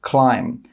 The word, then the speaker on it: climb: The letter B is normally not pronounced after an M at the end of a word. For example, climb.